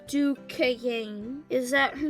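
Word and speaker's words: Duchannes: Pronounced in the South, too. Rhyme with rain. The way Emma rolled it out, you would have thought the word had an extra syllable. Duquesne.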